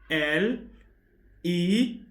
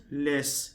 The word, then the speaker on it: les: le it is not less it is not less cuz mostly English speakers would rather say less less no it's not less people s is silent are you to hear